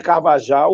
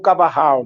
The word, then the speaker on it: Carvajal: da expedição, Frei Gaspar de Carvajal, o Cavarral, né, conforme queiram a pronúncia.